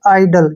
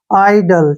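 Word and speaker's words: idle: है ना इसका उच्चारण आई का उच्चारण जो य आई के रूप में करें हम ठीक है और डी का उच्चारण डे हो गया एल का उच्चारण ल हो गया और ई का उच्चारण हम करते ही नहीं है लास्ट में आइडल क्या बन गया आइडल ठीक है ना इसको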